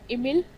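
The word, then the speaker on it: Émile: इस बात को क्लियर हमेशा जब भी प्रोनाउंस करें खुद से भी तो इमिल डुरखाइम। क्योंकि कई बार हम इमाइल बोलते हैं।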